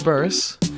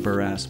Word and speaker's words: Burris: Burris. welcome to the show. Thank you for not pronouncing it Burras, by the way.